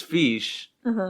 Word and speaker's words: fiche: fish like that but it's fish f-i-c-h-e yeah and that makes